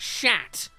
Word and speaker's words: Chet: But I think it's because one of the jokes really got through the cracks with me, where his name's Chet, and he's like, please, it's pronounced shat.